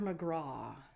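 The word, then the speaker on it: McGrath: a greyhound named Master mcra m c g r a t the th is silent and back in 1869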